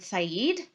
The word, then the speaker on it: Said: coined by the scholar edward saeed look him up his surname is spelled the same way as the word said so said brilliant scholar but he